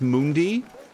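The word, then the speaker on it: munadi: I want to say that they just said it's like Mundi.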